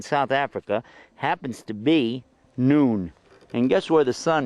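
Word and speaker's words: نون: the way that's the name of this letter noon so we had a below and we called it ba and here at noon time we called it noon and it's pronounced n noon going to draw another one now like this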